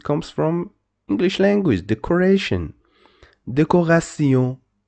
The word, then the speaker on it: décoration: The pronunciation is E, so you must pronounce this de, co. Why co? Why you don't say so? Because after the letter C, we don't have E, E, Y, so we must pronounce it co, and this is called deco. Ra, and T-E-O-N, T-E-O-N is called Sion, decoration, decoration.